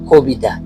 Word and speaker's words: কবিতা: যেমন গতি গতি অর্থাৎ সরু বর্ণটি যেখানে গোপন অবস্থায় উচ্চারণ হবে সেখানে উকার বসবে। যেমন আমি আমি যদি বলি কবিতা ক এর পরে রসিকার আই আছে এজন্য এই